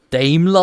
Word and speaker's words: Daimler: It's more of a German thing to refer it, but like that's genuinely something that I pronounce again in German. Daimler. Because Daimler, I think it would be if I pronounce it more in the English way.